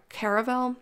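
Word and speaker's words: Caraval: read this book called caravel i think that's how you pronounce it the book is called caravel or carnival it looks like carnival but it's called caravel it's c-a-r-a-v-a-l caravel i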